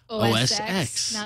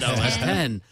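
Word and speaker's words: OS X: on the pronunciation show I would say OSX not os1 um no but yeah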